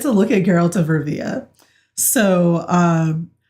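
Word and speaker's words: Rivia: look at geralt of Riva so um who I was calling geralt of Rivera and none of y'all corrected me until I like rewatched it and realized that I was saying it wrong I was like um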